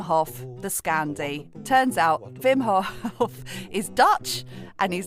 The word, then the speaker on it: Hof: Turns out Wim Hof is Dutch and his name is pronounced Wim.